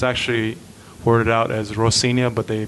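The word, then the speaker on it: Rocinha: whole scene yeah yeah the Brazilians they pronounce the R as an H so it's actually poured out as Rosina but they pronounce it ho senior and I yeah I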